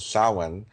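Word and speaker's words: Samhain: Um people spell it s a m h a i n but it's pronounced sin.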